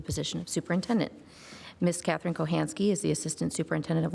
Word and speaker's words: Kochanski: We're moving on to 3B, which is our interview of Miss Catherine Kochanski. I have clarified with her that that is the proper way to pronounce her last name.